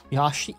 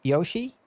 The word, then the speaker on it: Yoshi: it wrong yeah how how do you say it yashi yashi Yoshi it's yo yes well in that depends